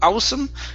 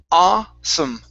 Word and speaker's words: awesome: Um, next up we have the word awesome right here instead of a awesome. Okay, it's only an a. There is no ooh sound. So, it's awesome.